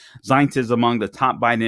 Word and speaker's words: Zients: Chief of Staff Jeff Zients, I believe is how you pronounce his name, Zients. Zients is among the top Biden administration aides, according to the Washington Times.